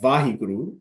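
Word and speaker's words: Waheguru: And then if you look at Vahiguru, the word, it Hmm. is four syllables, right?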